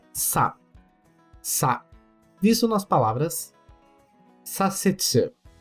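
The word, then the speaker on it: させつ: Sa, visto nas palavras sasetsu. Sasetsu, que significa virar à esquerda, visto muito em placas e outdoors em meio ao trânsito.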